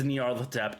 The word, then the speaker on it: Nyarlathotep: Yeah, Nyarlathotep.